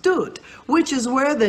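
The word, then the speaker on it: דוד: As a matter of fact, there is a Hebrew word which means beloved or uncle, and it is pronounced Dut, which is where the name David has its etymology.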